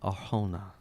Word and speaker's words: Arjona: I think it's Arjona. I got the last name because I had to look up the pronunciation. No, it has that J. It's definitely Yeah, J. Arjona.